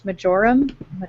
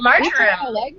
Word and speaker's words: marjoram: how to pronounce this, majoram? Oh, how do you pronounce that? I have no idea. It's something I have only ever read. Marjoram? Really? Marjoram. That sounds right. It's like margarine.